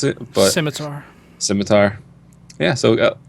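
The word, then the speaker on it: Scimitar: called the skar is that what how you pronounce it but simitar simitar yeah so it's I think it's all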